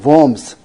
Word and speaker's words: Worms: 이 보험성, 독일 말에 W는 어떻게 발음합니까? 항상 영어의 V자처럼 발음하죠. 그래서 worms.